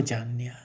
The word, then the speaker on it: चान्यः: तो आश्चर्य वद और वदति तथैव चान्य, आश्चर्य वद पढ़ेंगे, फिर वदति तथैव चान्य, चान नौ का आघात लेते हुए चान कहेंगे, फिर न्यः, आश्चर्यवद वदति तथैव चान्यः चान्यः।